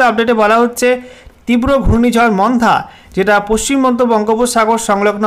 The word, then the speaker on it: মন্থা: সাবজেক্টে বলা হয়েছে severe cyclonic Sturm মন্থা, pronunciation মন্থা over West central বে অফ বেঙ্গল।